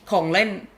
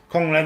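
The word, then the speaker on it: ของเล่น: Kong Len. Huh? Kong Len. Kong Len, yes. That we all got an education today. I never expect. That's a pretty cool name. Kong Len, that's just a Thai for toy.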